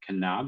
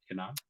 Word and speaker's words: Knaub: Knaub. Is that how you say it? Knaub? Yes, we've Americanized it and kind of just say knob like a doorknob, but the Germans would say the K.